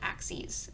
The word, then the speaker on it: axes: i know that axis looks like axes but i promise it's the plural of the word axis okay so that's the plural of the word axis it's called axes it has a slightly different pronunciation than um the kind of axe that you would throw at a tree sound good great so